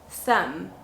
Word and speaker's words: thumb: the letter m so when you have m plus b then the b is silent for example thumb so can you please